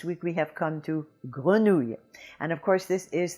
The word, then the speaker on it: grenouille: This is word number 11, and our word this week is Grenouille.